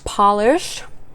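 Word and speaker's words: Pahlish: Here from Polish, a brand that is spelled P-A-H-L-I-S-H.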